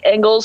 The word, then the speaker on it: Engels: And I think Engels is how you say the Belgian's name that was having a time.